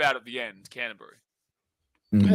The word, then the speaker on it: Canterbury: So, it's more it's more like Canterbury. Like there's no real It's not like a berry at the end. You just run it. You kind of take the U out of the end. Canterbury.